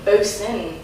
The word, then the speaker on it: Boson: So for people that haven't heard the new album Boson, am I pronouncing? Boson, that's it.